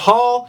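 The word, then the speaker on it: Holl: Leafs of sign Justin Hall h o l l but it's pronounced Hall he is a right-handed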